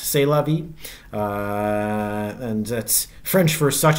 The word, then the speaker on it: C'est la vie: I'm told it's actually pronounced C'est la vie.